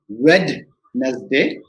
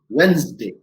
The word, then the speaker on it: Wednesday: the next word we i know many of us pronounce it as red nasday right many of us pronounce it as red as they but if you go to a native speaker he or she will go on wednesday right wednesday so it's got two two syllables day day right diy